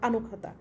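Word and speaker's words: あの方: আবারও বলছি, ককে কিন্তু আমি ক্ষয়ের মতো উচ্চারণ করছি। আগের লেসনগুলোতেও বলেছি জাপানিজরা কিন্তু ককে একটু ক্ষয়ের মতো উচ্চারণ করে, সো আনো খাতা।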